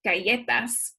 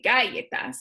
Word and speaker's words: galletas: So, for example, the word, I just keep thinking of cookies, galletas. I don't say galletas, I say galletas. It's that second to last syllable that just gets the accent when I pronounce it.